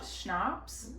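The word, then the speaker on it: schnapps: Um, butterscotch schnops. Schnops, that's how you say it.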